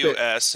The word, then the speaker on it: Deus: D-E-U-S, and it's pronounced Deus.